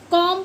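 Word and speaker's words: comb: ऐसे ही सी ओ एम बी इसको हम कॉम पढ़ते हैं। कॉम ना कि कॉम ऐसे ही एल आई एम बी तो इसको हम लिम पढ़ते हैं।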